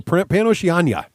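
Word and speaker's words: PanOceania: We need a pronunciation guide here. Okay, so Pan-Oceania.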